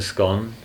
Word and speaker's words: scone: I say I say scone because G O N E is gone. No, but there is a better reason for scone because what's the fastest cake in the world?